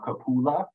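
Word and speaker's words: cupola: for correcting me on the uh pronounced proper pronunciation of kapula um of course a word that I am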